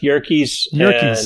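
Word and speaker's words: Yerkes: students engaged okay uh it's pronounced yorkies and um rhymes with turkeys that's the way to remember we need an audiobook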